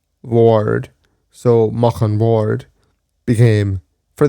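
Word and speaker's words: Bhaird: But mock ward because of the way Irish is pronounced b h a i r d was ward.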